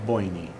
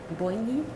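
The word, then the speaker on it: Boiney: Boigny? How do you pronounce it? Boyney. Boigny? Boyney. Yes.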